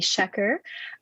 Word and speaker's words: Schaecher: So my name is Shecker, and it's an interesting last name, Shecker.